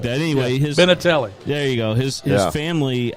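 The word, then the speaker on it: Benintendi: Anyway, Benatelli.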